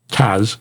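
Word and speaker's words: TASS: Technical and surveillance Squad Taz t-a-s-s is pronounced Taz okay installed a police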